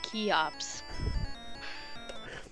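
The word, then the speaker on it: Cheops: Great Pyramid of troops I believe that is traditionally pronounced key ops do you really want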